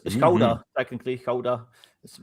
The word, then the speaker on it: Gouda: Gouda is Dutch. It's koda technically. Koda is how we pronounce it.